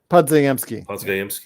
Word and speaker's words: Podziemski: Podziemski.